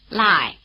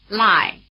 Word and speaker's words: Lài: Lài, Lài, Lài Notice that the diphthong "ai" is spelled AI as in Shanghai, which in Chinese is pronounced like this.